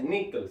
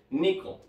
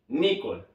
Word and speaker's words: nickel: diferente no se pronuncia nickle se pronuncia Nicole Nicole Nicole nicool con la la sílaba tónica al principio ahora vamos con acero